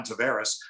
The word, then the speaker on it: Tavares: i'm john tavares and everybody in toronto tavares tavares and i hear him say it's john tavares i'm listening to him